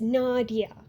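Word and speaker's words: Nadja: Usually, there's a J in there. It's one of those times where a J is sort of pronounced more like a Y in some languages. So, it's Nadia, but there's a J.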